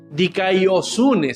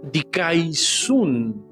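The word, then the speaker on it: δικαιοσύνη: Una, una cosa es como se escribe, la otra es la fonética. Ya, dikaiosun se escribe, pero se pronuncia dikaisun.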